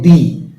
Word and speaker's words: the: খুব সহজ যদি প্রথম সাউন্ডটা হয় ভাওয়েল তাহলে উচ্চারণ হবে দি আর যদি প্রথম সাউন্ডটা কনসোনেন্ট হয় তাহলে উচ্চারণ